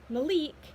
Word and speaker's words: Malec: I always, Malec is, according to JLA, pronounced Malik, and Malik is pronounced Malik, which my brain switches them up like a lot.